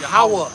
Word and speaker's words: Yahweh: How do you guys pronounce it? Yahweh. Yahweh?